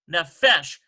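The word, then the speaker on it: nephesh: This fe does not take a dagesh lean because it's not following a shabbat and starting a new syllable following a shabbat. Those conditions have to be met. So in this case, no. Number 14 takes no dagesh lean.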